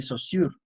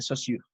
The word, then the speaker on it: Saussure: Técnicamente creo que se pronuncia Saussure.